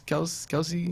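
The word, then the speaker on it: Kelce: And my sleeper, which probably wouldn't be a sleeper now, is I'm gonna need a little help to pronounce his name. Travis Kelsey. Yeah, Kelsey's it.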